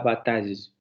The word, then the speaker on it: bataille: pronunciación de esta palabra, van a escuchar algo similar a bataille, bataille, bataille, porque al final se va a pronunciar una semiconsonante, no una semivocal, ¿vale?